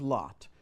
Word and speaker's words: Latte: loot the monastery of Lot, L-A-T-T-E, Latte, but I think it's pronounced Lot.